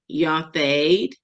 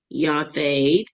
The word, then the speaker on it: yathed: It is pronounced yathed, okay, yathed.